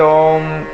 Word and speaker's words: ओम: को कहते हैं और इसी ओम का उच्चारण ही ओंकार कहलाता है रंकार पूर्वक ओंकार को जिसे हम बोलते हैं ओ तो इसमें ओम में तीन अक्षर है अ उ म तो ये मैं जो